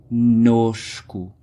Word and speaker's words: conosco: Essa é uma grande exceção, porque é conosco. Tens 2 N's.